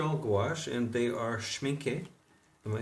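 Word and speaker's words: Schmincke: These are all gouache, and they are schminke.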